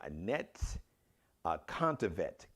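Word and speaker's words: Anett Kontaveit: I believe it's Contavet. Well, I didn't get the phonetic pronunciation, so that's what it looks like. Annette. It's like a net without the E at the end, and then Contavet.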